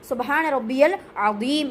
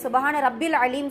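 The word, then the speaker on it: سبحان ربي العظيم: சுபஹான ரப்பியல் அலிம் என்கின்ற வார்த்தை. அதேபோல உச்சரிப்புகளும் கரெக்டா இருக்கணும். எப்படி உச்சரிக்கணும்? சுபஹான ரப்பியல் அலீம் அலீம் சுபஹான ரப்பில் அலீம் சொல்லக்கூடாது ரப்பியல் ரப்பில் அலீம்னா அந்த யாவ விட்டுட்டோம்னா என்னுடைய ரட்சகன் ஆகாது சரிங்களா அதனால சுபஹான ரப்பியல் அலிம்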